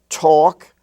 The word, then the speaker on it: talk: were spelled h-a-f-f and in the LK family you have talk and walk where the a is pronounced like the a in all talk and walk even though it's in the milk and silk family it's talk and walk